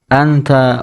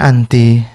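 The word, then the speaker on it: أنتِ: Kok dibacanya anti? Zakiyatun. Zakiyatun, ya. Karena ya khobarnya ini kan muannas. Kamu ini adalah orang yang cerdas. Cerdasnya kan perempuan. Maka bukan kita baca anta, tapi kita baca Anti.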